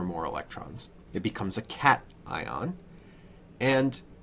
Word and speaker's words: cation: this a cat now it's not called cation it's called cat ion so remember to pronounce that because it's very important nothing says that you don't know what you're talking about more than when you mispronounce a word like cat ion okay cat ion the